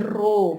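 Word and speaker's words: ρ: Terus kemudian dikuadratkan masing-masing D-nya, baru kemudian bisa dihitung nilai, bukan pi ya, ini rho bacanya ya.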